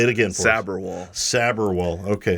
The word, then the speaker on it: Sabharwall: Sabharwall. Okay, I'm going to make sure we do that correctly. The way that you said it is probably the most common pronunciation of it.